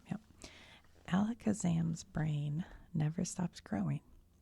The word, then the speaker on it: Alakazam: Pokemon let's make sure I'm saying it right Alakazam yep alakazam's brain never stops growing its head has to